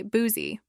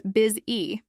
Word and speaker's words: busy: Many learners say boozy or buzzy because of spelling confusion or influence from their first language. But the correct pronunciation is biz-e. The U is actually pronounced like a short I sound.